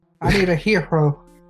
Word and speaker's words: gyro: "Can we get the gyros? The heroes?" Yes, that. Sure. Well, there you go. It's pronounced gyros, right? I need a hero. I was calling gyro, and she'd be like, "No, it's hero."